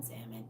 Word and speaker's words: salmon: salmon normally but salmon salmon the L is silent it is what it